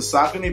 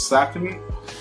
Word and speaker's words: Saucony: I think people pronounce it SAUCONY, but it's SAUCONY. SAUCONY.